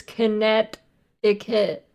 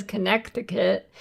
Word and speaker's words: Connecticut: You're not supposed to say the second C in Connecticut. It's Connecticut. Nobody says Connecticut.